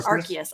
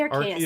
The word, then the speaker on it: Arceus: yeah our cards or arceus i want to say our chaos every time arceus or arceus it's